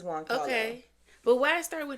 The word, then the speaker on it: Giancarlo: I think it's Juan Carlo. Okay. But why start with a G? Because Juan is J. I want to say it's maybe. Let me ask Siri how to pronounce that. Okay. Giancarlo Esposito.